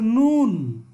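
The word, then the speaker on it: نون: এরপরে নুন, নুন এটা নাক থেকে উচ্চারিত হয় নুন, ঠিক আছে।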